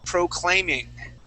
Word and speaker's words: proclaiming: The word is proclaiming. Right here. So we're going to say proclaiming. Proclaiming. There you go. Proclaiming. Okay, the accent goes at the very beginning, right there. Sorry, it goes on this A.